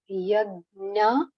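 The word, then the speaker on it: यज्ञ: So wherever there is J and A, it has to be pronounced as nya. Nya. Yagya arthat. Yagna. Nya. Nya. Yagna arthat.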